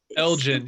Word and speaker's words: Elgin: kind of nickname but there's yeah it's the Elgin yeah Elgin was the British guy that took him but